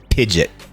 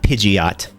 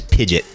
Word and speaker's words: Pidgeot: Pokemon Pokemon's names is I pronounce this guy pidet not Pidgeot his name is pidet like like a like a fidget spinner The cookbook even uh